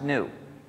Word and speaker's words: GNU: Because according to the dictionary, the G is silent and it's pronounced new.